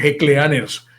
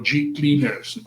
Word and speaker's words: G Cleaners: Se escribe Hecleaners, pero dígalo como yo, G Cleaners.